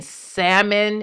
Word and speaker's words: salmon: know, and Rey's voice, if you pronounce the L in salmon and you say salmon, I think you're dumb.